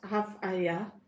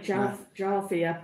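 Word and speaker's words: Jávea: Diana said she's pronounced as Avea. It's beautiful, but not as busy Avea. As Benny. Benny, yeah, because it's we'd say Jarvia, but the J is silent, so it's Avea.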